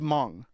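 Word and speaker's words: Hmong: I think you're Mong. That's the one. Okay. Okay. All right. All right. Hm. But it's actually pronounced Mong, right? Oh, yes. H is silent.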